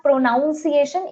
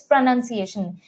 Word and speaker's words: pronunciation: So it's not pronunciation, it's pronunciation. It's not demagogue, it's demagogue.